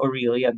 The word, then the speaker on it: Aurelian: You have to know kung nasan ka sa aurelian wall How do you say that aurel wall